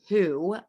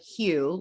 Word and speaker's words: Hu: love this chocolate it's i think it's pronounced who or hue like human um it's just hu